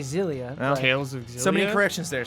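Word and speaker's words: Xillia: darkness i think that last one hit it's pronounced exilia right cross elia exilia do you say zillion isis i say zelia tales so many corrections there said it's pronounced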